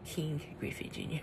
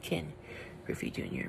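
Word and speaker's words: Ken Griffey Jr.: Griffey Jr I used to I used to pronounce it King greasy Junior but it's Ken Griffey Jr Major League Baseball game boy Edition Yep this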